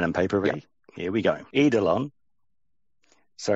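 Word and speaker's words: eidolon: like that pen and paper here we go edelon so it's e i d o l o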